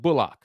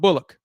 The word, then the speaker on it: Bullock: you as well and yes everyone it is pronounced bulock not Bullock bulock okay so not say Chris has lost